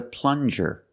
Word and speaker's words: plunger: good this is a plunger plunger use the regular n and the JJ sound like juice plunger this is a plunger